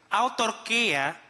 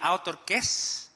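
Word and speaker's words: αὐτάρκης: Sabi po ang salitang content ah kanina ang pagkakabigkas nito sa YouTube ay author and then I was reminded that it or I was corrected that it should be outer kiss yun po ang Greek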